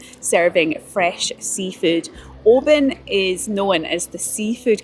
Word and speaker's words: Oban: Oban actually means Little Bay in Scottish Gaelic, and despite how it's spelt, it's pronounced Oban, not Oban.